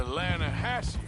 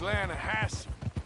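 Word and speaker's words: Lannahechee: trout you mean the atlanta hassie river no no no no no the the lana hatchy it runs right near here yeah but it's pronounced land hassan why is everything in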